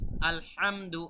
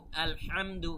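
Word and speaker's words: الحمد: আপনাদের রপ্ত করতে হবে হা কিভাবে উচ্চারণ করতে হয় গলার ভেতর থেকে উচ্চারণটা আপনাদের নিয়ে আসতে হবে আলহামদু আলহামদু খেয়াল করুন একটা হচ্ছে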